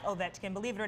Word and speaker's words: Ovechkin: Ovechkin. Ovechkin.